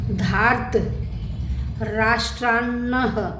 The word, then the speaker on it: धार्तराष्ट्रान्नः: निहत्य धार्त, मैंने आपको बताया ना इस र का आ की मात्रा के बाद उच्चारण होगा। धार्त राष्ट्रान्नः, दो न हैं, का प्रीति स्याज जनार्दन पापमेवाश्रेयदस्मान् हत्वैतानात तायिनः।